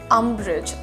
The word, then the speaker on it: umbrage: It is umbrage. जैसे आप कहते हैं ना umbrella, कुछ वैसा ही शुरू हो रहा है.